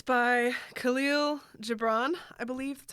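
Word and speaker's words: Kahlil Gibran: It's by Khalil Gibran, I believe that's how you pronounce it.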